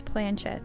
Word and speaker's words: planchette: to say this word i would have said pull and but apparently it's planchet so i'm making this